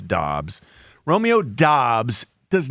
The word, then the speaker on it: Dobbs: Spelled, it looks like Dubs more than Dobbs. Yeah. Dobbs is like D-O-B-B-S.